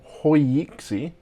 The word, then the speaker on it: HoYiXi: tech travel geeks unboxing and review of a hoixi case i purchased on amazon so it's difficult to pronounce it's hoiyiksi which is spelt h-o-y-i-x-i and this is a